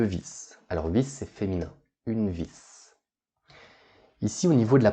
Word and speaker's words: vis: Alors vis, c'est féminin, une vis. Ici, au niveau de la prononciation, vous voyez que l'on prononce le S. Un tournevis et une vis.